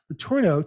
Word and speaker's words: Letourneau: How close was my pronunciation on your last name? Very, very good. Right, 100% on the button.